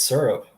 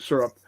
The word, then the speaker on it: syrup: syrup and poutine okay do you say syrup or syrup it's syrup all right and I'm probably wrong in half of the United States but I'm right down here exactly it's just syrup and and what do